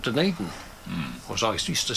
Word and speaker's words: Dunedin: this University of Otago in a place called Dunedin. Or as I used to say in those days, Dunedin. I learned how to pronounce it properly when I moved there.